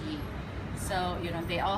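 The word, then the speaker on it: 鱼: word fish yep uh in Chinese it's pronounced as you so you know they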